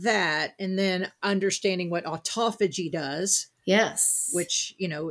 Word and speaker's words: autophagy: Well, actually the Greek that I think Dr. Fung even says that if you break it down the Greek, it is auto, and the French say phagie. It means self-cleaning. Ah. But in the U.S., because we use different emphasis on our syllables, we say autophagy.